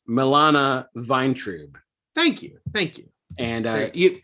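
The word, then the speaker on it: Milana Vayntrub: So per her Twitter, it's pronounced Milana Vine.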